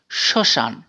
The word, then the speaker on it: শ্মশান: বর্ণের সাধারণ উচ্চারণ ম শব্দের প্রথম বর্ণে ম ফলা থাকলে সেই বর্ণ উচ্চারণের সময়ে ম এর উচ্চারণ আয় চন্দ্রবিন্দু এর মত হয় যেমন শ্মশান শ্মশান শব্দটি সয়ম ম